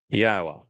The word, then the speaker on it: Yahweh: of his people that Yahweh, which is God's name properly um articulated based upon haya and Torah which provide us with the instructions on how to pronounce it.